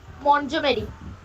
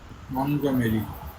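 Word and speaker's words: Montgomery: Then hour runway kite Lucy মন্টজমেরি। মন্টগমেরি।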